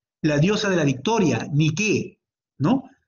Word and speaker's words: Nike: La diosa de la victoria ni qué, ¿no? Ustedes sabrán que la marca Nike de zapatillas es el ala de la diosa que se escribe niqué.